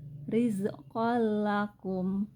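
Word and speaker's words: رِزْقًا لَكُمْ: Karena tanwin bertemu huruf lam, maka dibaca tanpa dengung. Jadi dibacanya adalah rizqol lakum.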